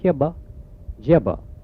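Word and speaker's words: kiba jiba: kibba jibber is a strange animal and you spell it k-i-b-a j-i-b-a kibba jibba and there are not many of them here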